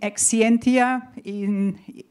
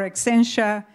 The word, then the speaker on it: Exscientia: I'm not going to go in detail, but there is a company, Exscientia, if you pronounce it in European English, or Exscientia, if you pronounce it in American English.